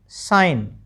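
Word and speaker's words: sign: एस आई जी एन साइन और एफ ओ आर इ आई जी N foreign विदेशी जिसको हम कहते हैं।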